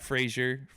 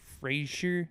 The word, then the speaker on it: Fraser: some of the names Matt Frazier Frasier that's like Razer but Frasier I never can say